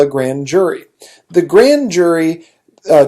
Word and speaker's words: grand jury: what you call a grand jury the grand jury uh technically it should be pronounced grown jury because it's a French word but you know hey